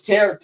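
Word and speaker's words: Tarik: He'd be like Tariq Skubal right now if he had actual offense. I love Tariq, like he is. I know it's Tarek. How do you pronounce it? It's Tarek.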